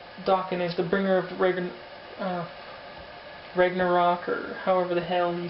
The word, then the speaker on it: Ragnarok: It's Ragnarok.